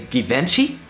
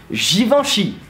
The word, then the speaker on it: Givenchy: Did you say Givenchy? Yeah? Yeah? Fuck you! Because the name is actually Givenchy. Mind blown! And yes, I know, even some French people will be like, what? I mean, what? So how to pronounce it? Pretty easy though. You just need to say G, you know, like the letter.